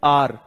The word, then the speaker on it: our: अच्छा, इसको बहुत सारे बच्चे आवर पढ़ते हैं। इसको बहुत सारे बच्चे क्या पढ़ते हैं? आवर पढ़ते हैं। नहीं, इसकी प्रोनाउंसिएशन होगी आर।